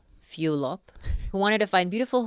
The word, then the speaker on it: Fulop: It's pronounced Fulop. Fulop, who wanted to find beautiful home essentials that